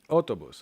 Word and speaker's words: אוטובוס: Autobus. Okay, thank you. Stress on the first.